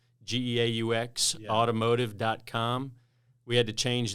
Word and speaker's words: Geaux: you non-caging people yeah g-e-a-u-x spells go yes not to be confused with go right exactly so they